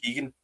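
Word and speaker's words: Keoghan: bar Barry dear Kinesiology the second name is actually just uh pronounced Keegan I think I think sense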